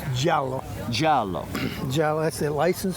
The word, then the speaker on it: giallo: So how do I pronounce the color of this car in Italian? It's giallo.